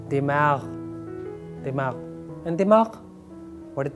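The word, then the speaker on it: دماغ: It has ghain, dimag, dimag. That is the actual pronunciation, dimag, dimag.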